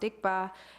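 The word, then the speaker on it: སྡིག་པ: negativity or dikba in Tibetan. Um so as you can see it's the widely spelling sod um s d i gp pa but pronounced dikba is sometimes translated as sin or misdeeds but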